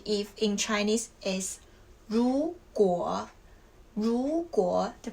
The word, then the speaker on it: 如果: 如果, the pronunciation is 如果.